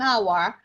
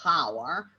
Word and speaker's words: hour: that you could notice here we say an hour because the word hour it's got the age that is silent so it's one of the fewest words